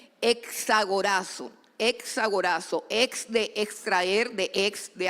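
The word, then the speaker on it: ἐξαγοράζω: Bueno, fue escrito en griego y el término griego es supremamente interesante porque es un término que se que se lee o se escribe exagorazo.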